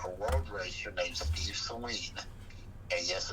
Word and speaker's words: Saleen: In 1984, a road racer named Steve Saleen, and yes, it's pronounced Saleen, not the other way.